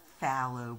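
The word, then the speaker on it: phthalo: This is fallow blue is how you say it.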